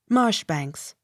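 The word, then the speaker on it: Marjoribanks: o r i b a n k s marsh banks m c capital i n t o s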